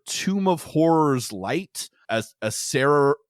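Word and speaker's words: Acererak: Asarak. I don't actually know how it's said, but I always say Asarak. Asarak has a little clone. Sorry, it's Asararak. That's right. So there's another R in there.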